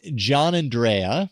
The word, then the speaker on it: Giannandrea: John John Andrea is how you pronounce his last name.